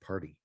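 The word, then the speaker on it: Parde: Brewing it's spelled p a rde but it's pronounced party p a r t y so uh actually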